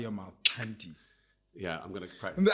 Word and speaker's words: Xhanti: So it's Xhanti. Right, okay. Yeah, Xhanti. So I always say to people, it's like, or at least for me, it's a click on the left side of your mouth, Xhanti.